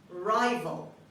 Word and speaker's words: rival: number two rival rival rival the stress is on the first syllable at the beginning a person who wants